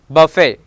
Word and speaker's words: buffet: If a French word ends in ET, ballet, buffet and gourmet, here T is remain silent.